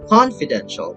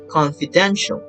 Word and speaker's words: confidential: right just like that i just made a usual mistake that we just use it on confidential but actually that should be confidential and interpretation right so